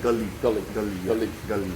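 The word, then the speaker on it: galli: again g-u-l g-a-l-l-i g-a-l-l it sounds like you're saying yeah we call it gully all right yeah so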